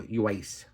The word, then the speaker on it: Uwais: Yeah, you say the U really quickly. I looked at the pronunciation guide. Eco Uwais.